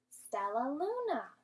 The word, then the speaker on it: Stellaluna: down into syllables let's break it down using our clapping hands so sounds like we have four syllables so now let's do one more time so and let's say it all together lets blend all of our syllables together stellaluna so our book is